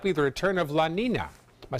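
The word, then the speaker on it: Niña: So it's spelled N-I-N-A, but there's a Y in it.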